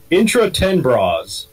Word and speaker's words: Intra-Tenebras: Intra-Tenebras. Tenebra. Intra-Tenebras.